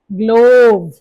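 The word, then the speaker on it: glove: ई silent है, तो tension नहीं लेना, लास्ट में वो भी सिखाएंगे कि ई साइलेंट होता है और लगाना होता है तो क्यों लगाना होता है, जबकि साउंड कहां तक आ रही है?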